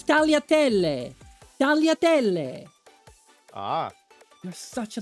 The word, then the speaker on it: tagliatelle: Can you at least pronounce it properly? No. It's tagliatelle.